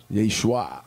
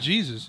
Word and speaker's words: Yeshua: not Jesus. Jane Schwan with the feng There was shui. no such thing as the letter J in the Hebrew alphabet.